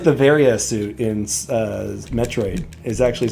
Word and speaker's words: Varia: Oh, Adam does say Varia, another M, and it's Varia. Okay, so it's the way I've pronounced it my entire life.